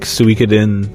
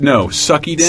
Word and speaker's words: Suikoden: Then things like Suikoden. But he's a way better. Sucky-den. Psycho Mantis taught me how to say that. You like Suikoden.